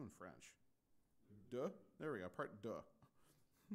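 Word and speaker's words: deux: Duh.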